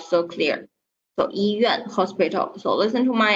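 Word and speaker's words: 医院: So 医院, okay, your pronunciation 医院, this word just now not so clear. So 医院, hospital.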